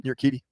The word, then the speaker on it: Urquidy: Urquidy. Yeah, Urquidy.